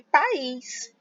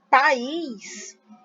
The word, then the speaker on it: país: singular diferente aqui de país país a gente tem duas sílabas essa palavra ou tá e o Luiz né e é uma oxítona oxítona porque a sílaba forte a última é o índice nesse